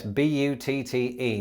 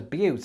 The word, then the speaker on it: butte: is pronounced but and it's probably quite an appropriate pronunciation because buttes are often beautiful or at the very